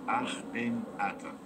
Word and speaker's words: Akhenaten: About Akhenaten, the proper pronunciation for this is Akhenaten, means the shadow of Aton.